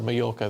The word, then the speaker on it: Mallorca: It's probably the same place, because double L is Y in Spanish, isn't it? So Mallorca, there you go.